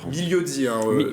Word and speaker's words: Migliozzi: Migliozzi, Migliozzi. Le G et le L, on va dire qu'on les fusionne, voilà, pour la prononciation italienne.